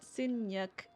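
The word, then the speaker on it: nhật: So yeah, the yeah, so it's spelled NHAT for birthday, Sinyuk. But like when you say it, it has a K sound instead of a T sound. Sinyuk.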